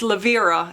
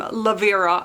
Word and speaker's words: Lavira: I told you guys that I went to the audiobook, and it's Lavira is how you say her name. Lavira.